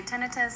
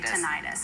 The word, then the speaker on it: tinnitus: you say the other well there's no really right or wrong way to say it some individuals say tenus some say tentis I found most of